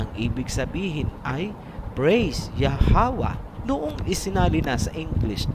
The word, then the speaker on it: Yahweh: Hindi po, kasi ang A ay binibigkas kung may susunod pang syllable. Kung wala nang susunod na syllable pagkatapos ng last letter, hindi na po bibigkasin ang tunog na A.